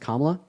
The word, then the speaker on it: Kamala: Also, her name is pronounced Kamala.